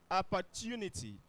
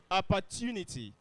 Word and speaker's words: opportunity: The point is that the T is not pronounced this. What is this, class? And that's what we have here. It is not pronounced that. If you go home, pick